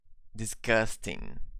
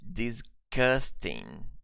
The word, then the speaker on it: disgusting: with a G sound we pronounce it with a K sound disgusting okay what does this